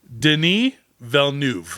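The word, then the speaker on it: Villeneuve: Deni Velnuv.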